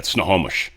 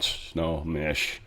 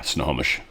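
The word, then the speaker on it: Snohomish: Sort of more in the Seattle area, but um yeah, snowomish, not snowish. Uh but yeah, snowomish.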